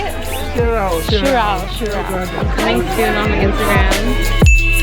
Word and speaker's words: Sirao: We're at Sirao? How do you say it? Sirao.